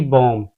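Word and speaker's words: bomb: Example से समझते हैं, जैसे कि बॉम्ब, यहाँ बी बाद में आ रहा है।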